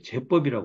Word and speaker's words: 제법: 아닌 대법을 모르는 연구라 제법 발음을 제법이 이라고 해야 돼요 제법이라 해야 돼요 이걸 생각을 못 해